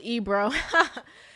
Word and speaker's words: Ibro: Ibro M, and Ibro is pronounced Ebro.